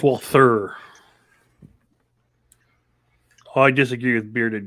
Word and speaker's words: Walther: Oh, speaking of hers, I think Walter might be Walter. Walter. No, it's Walther.